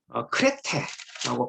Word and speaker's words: 그레데: 자, 지금 이제 디도서와 관련하여서 한번 디도가 머물렀던 그 지역, 그레데라고 이야기를 하는데요. 원래 크레테라고 발음을 해야 되겠죠. 있는 그대로 발음을 하자면, 자, 바로 요 섬입니다.